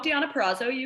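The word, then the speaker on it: Deonna Purrazzo: tna champ diana uh i always say her name wrong no diana perazzo diana perazzo yeah and then here's my comment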